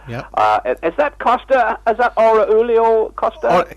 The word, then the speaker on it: Orihuela Costa: Is that Aurelio Costa? Aurelio Costa, you call it. That's right. It's difficult to pronounce.